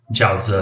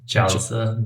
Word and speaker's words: jiaozi: Jiaozi. How do you say it? Jauze.